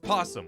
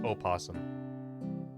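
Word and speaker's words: opossum: someone said o opum but it's pronounced posum we just have a fancy o are they different species oh pums are a separate marsupial oh oh yeah no no one says o possum oh posum is the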